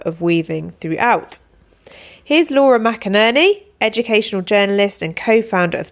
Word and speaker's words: McInerney: case you don't know my name is Laura McInerney if you can't easily remember it you just